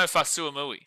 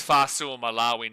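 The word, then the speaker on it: Fa'asuamaleaui: Tino Fuy Fuyo is he says no he says Tino Fasui." No, I'm not joking. That's what how he pronounces his name. Well, now he doesn't. He says Fu Malawi now, I think, but he never used to.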